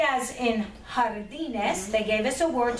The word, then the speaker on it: jardines: Notice it has a J in front, but we use it like an H sound in front, okay? Jardines, okay? It is harder, stronger version of the English H sound there, all right?